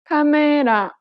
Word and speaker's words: 카메라: But in Korean, each syllable is pronounced for the same amount of time and gets equal stress. Listen to the word camera in Korean. 카메라.